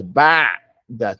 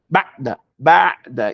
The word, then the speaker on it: بعد: So the aim, the sound flows in it. When you to do the aim, to pronounce the aim, you're gonna move your tongue backwards, but the sound runs ba'da, not ba'da, ba'da, iyyaka na'budu. It goes a little bit in it.